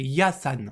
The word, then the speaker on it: Yasan: Enfin, pourquoi je dis Yann-san? C'est Yasan. Voilà, Yasan.